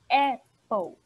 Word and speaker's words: apple: A primeira, a gente chama de Apple. É o som de E lá no início. Muitas pessoas falam EI, porque a letra A no inglês a gente fala EI.